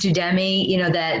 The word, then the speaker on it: Udemy: I mean, I know, before I had mentioned, I think it's pronounced Udemy, that where you can learn basically anything.